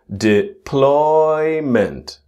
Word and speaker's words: deployment: So the important part with the word deployment you can see one word is in big letters deployment not deployment but deployment pipline deployment pipeline.